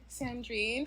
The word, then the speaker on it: Sandrine: We're going to be interviewing Sandrreen from Estrellar Studios. Hi. Did I pronounce that right? Yes, you did. Okay. Yes, you did. Sandreine is my name.